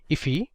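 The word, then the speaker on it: IIFE: So this is known as an immediately invoked function expression or I if which is often pronounced as ify.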